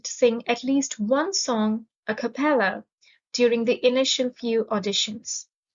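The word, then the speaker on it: a cappella: vast wretched a compeller a capella has a stress on the third syllable it's an adjective and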